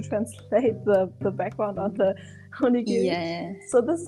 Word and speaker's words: onigiri: before you jump on the train, like the onigiri, I don't know really how to pronounce it right. Sorry. It's like a onigiri is right.